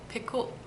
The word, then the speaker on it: Picoult: sister-in-law of the author Jodi Picoult Picou I think that's how you say her name and so between the